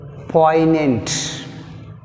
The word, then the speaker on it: poignant: Next word poignant. Poignant. See here, poignant which is silent, g is silent.